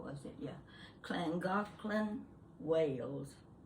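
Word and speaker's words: Llangollen: how was it yeah clangothlon wales it was spelled with the double double-l a-n-g-o-l-e-n i looked at that and i said langolin nice man on the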